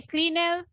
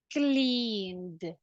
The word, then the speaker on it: cleaned: would be the pronunciation can I say cleaner ah pretty good we will say cleaned cleaned now what happens if